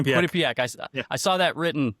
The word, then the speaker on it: Quinnipiac: So at Quinnipak and uh yeah I've I've always lived here. Yeah. How do you pronounce that? The college Quinnipak. Quinnipc. Quinnipiac.